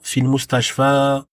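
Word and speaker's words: في المستشفى: Donc, la prononciation reste intacte, reste pareil. On dira fil mustashfa, et on n'entendra pas de kesra à la fin.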